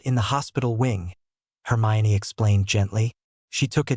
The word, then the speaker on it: Hermione: to her own chest this time and said, "Hermayan." The boy's tongues stumbled over the foreign name, and she almost smiled. It took a few more repetitions from them before they could say her name correctly. "Hermione," Harry murmured next to her, causing her to